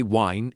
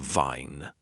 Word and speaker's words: vine: Some people say berry instead of very or they say wine instead of vine. The V sound is made by touching your top teeth to your bottom lip and pushing air.